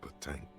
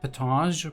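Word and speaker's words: pétanque: This must be the age-old game of petanque. Petanque, okay. I would say, like, it feels more like it should be pronounced petange, but, you know.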